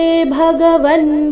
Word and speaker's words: ಭಗವನ್: ಮತ್ತೆ ಹಿ ಎರಡು ರಸ್ವ ಭಗವನ್ ಭಗವನ್ ಭ ಇಲ್ಲಿ ಮಹಾಪ್ರಾಣ ರಸ್ವ ಬ ಬೇಡ ಭ ಎಂದು ಬರಬೇಕು ಭಗವನ್ ವ್ಯಕ್ತ ಅನುಸ್ವಾರದ ಉಚ್ಚಾರಣೆ